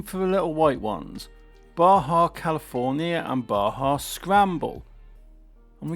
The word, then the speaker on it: Baja: Baja California Trail, or Badger California Trail as I was calling it for quite a few years on Horizon. Yeah, the Badger bug. Good car that, but the Badger bug. This actually pronounced Baja, which, you know what, you learn stuff every